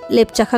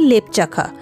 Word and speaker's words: লেপচাখা: শুধুমাত্র এই দুটো হোমস্টেই লেপচাখা গ্রামে ছিল আমরা বারবার এই গ্রামটার নাম বলি লেপচাখা কিন্তু আসল যে উচ্চারণটা সেটা কিন্তু লাপচাখা এখানে একটা বাড়িতে কোন একটা